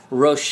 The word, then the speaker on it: Roche: Next up, we're going to talk Roche Limit number 4, or Roche Limit number 4, depending on whether you want to pronounce it with French or not.